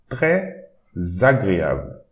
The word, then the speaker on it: très agréable: So we have the S here and a vowel starting the next word. So we need to pronounce it Z. It will create an imaginary Z. Très agréable.